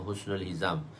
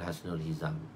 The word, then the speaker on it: Hasnul Hizam: Saya dikenali dengan nama Husnul Hizam, bukan Hasnul Hizam. Husnul Hizam. Sebab dari segi pronounce-nya Husnul Hizam. Kalau nak baca pronoun Hasnul jadi Hasanul Hizam. Kalau nak pronounce dia tu lah, pronounce betul dalam Arab.